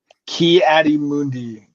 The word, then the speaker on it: Ki-Adi-Mundi: Can you please say it and then spell it? Kiadi Mundi.